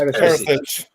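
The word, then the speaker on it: Perišić: And I'm getting a correct pronunciation. Perisic. That's not right either, is it? Perisic? It's Perisic.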